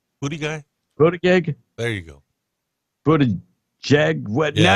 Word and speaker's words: Buttigieg: Buttigieg. There you go. Buttigieg. What? Yeah, now you got me all messed up. Buttigieg. Yeah. Thank you. Now you got me messed up. The booty guy.